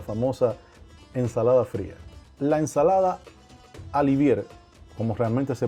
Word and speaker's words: Olivier: La ensalada alivier, como realmente se pronuncia. Se escribe Olivier, pero se pronuncia alvier.